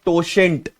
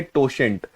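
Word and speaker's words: totient: इसको कहते हैं टोशेंट। क्या कहते हैं? टोशेंट। जैसे कोशेंट होता है ना, वैसे यहां पे इसका प्रोनाउंसिएशन है टोशेंट।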